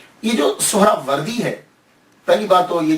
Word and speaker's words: سہرورد: یا تو نسبتی ہے، تو لفظ جو ہے وہ سہراورد ہے، سہراورد، سین کے اوپر پیش، پہلی ہا، یہ ہا ساکن، را کے اوپر بھی زبر، وا کے اوپر زبر، را ساکن، پھر آگے دال جو ہے وہ ساکن، تو سہراورد۔ یہ سہراورد ہے کیا؟